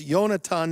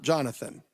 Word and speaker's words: Jonathan: your name that it's yonatan not jonathan you i i wrote on my screen jonathan or your the truth is in hebrew it's yehonatan but either way is fine it's jonathan is fine